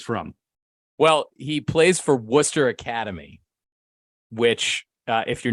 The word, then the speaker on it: Worcester: Well, he plays for Worcester Academy, which if you're not from here or you don't live here, is spelled Worcester. That's Worcester. Spelled nothing like it sounds.